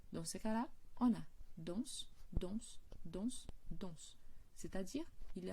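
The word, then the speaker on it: dansent: De la même façon, quand on a le il, elle danse au pluriel, ENT, il n'y a pas d'accent sur les E, par conséquent, le NT ne sont pas prononcés.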